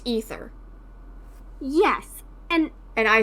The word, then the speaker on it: Aether: ether currents forever and it's definitely not pronounced Aether I'm supposed to be saying ether I acknowledge that it's